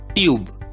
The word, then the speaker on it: TUBE: समाप्त होता है, इसलिए पहली स्टेप है हमें ई को भूल जाना है और दूसरी स्टेप यू का नाम लेना है, आवाज नहीं नाम। यू का नाम क्या है? यू, और इसलिए शब्द का उच्चारण होगा टी की आवाज ट, यू का नाम यू, बी की आवाज ब, उच्चारण होगा ट्यूब, ट्यूब।